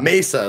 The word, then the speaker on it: Mesa: Mesa or Mesa. Yeah. Mesa, like Black Mesa.